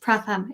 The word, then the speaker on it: Pratham: am here again on a wednesday joined by pratham thank you for coming i meant to ask you backstage if it is pronounced pratham is that right yes that is it is